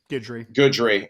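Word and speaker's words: Guidry: Coach Lance Goodry, is that how you pronounce it, man? Goodry.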